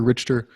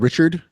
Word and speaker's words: Richter: series our main character richter has and i'm saying it right for once originally i said richard for like forever into like book four and then and i talked to you and like that that's how you say it our main character